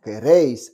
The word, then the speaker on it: queréis: Ah, Queréis. Attention, en espagnol, on prononce toutes les lettres, surtout Queréis. lorsqu'elles sont accentuées.